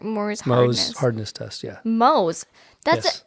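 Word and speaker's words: Mohs: hardness hardness test yeah Mo's that's m o s there is no R you said Moors it's Mo's MO is m o e the H is silent yeah where do you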